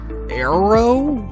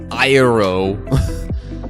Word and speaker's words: Aaero: called uh arrow hey the way i really want to pronounce it is iro or something like that if you're familiar with the video how german sounds compared to other languages and they're doing the airplane parts i think it's like i don't know italian or whatever where he's like that's how i really want to pronounce this because the two a's or whatever and yes